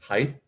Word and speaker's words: height: Wait, Andrew just said people who say height with the TH sound at the end make me unreasonably angry. Do they say height? It's height.